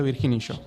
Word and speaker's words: Virginillo: Yo le digo Virginillo.